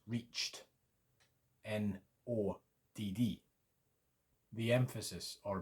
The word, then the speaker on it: nådd: A long O sound in no and road, the first one, and then a short O sound, and the emphasis is on the D's because there's two of them. Nod, nod, a bit like nod if you like in English, N-O-D, similar sound.